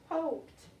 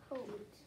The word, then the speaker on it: hoped: I add an ed to the end. It makes the sound t at the end. Hoped. Say the word, Yazel. Hoped.